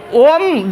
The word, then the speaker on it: ओम: का उच्चारण होता है तो ओम जो है ओ जो है लगातार लंबे समय तक बोला जाता है इसलिए शुद्ध ओम हो